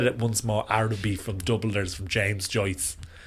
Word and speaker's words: Araby: It's Araby, not Arabia.